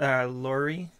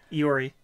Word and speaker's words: Iori: Taichi, Inaba, or Lori? Lori? However you pronounce her name. Iori.